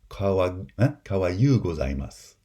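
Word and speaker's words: かわゆうございます: vocalic approximant, like kawaii, kawaii desu becomes kawayu gozaimasu. That I becomes a y. It's an alternation, an allophonic change between the high front I and the glide, the palatal glide, y.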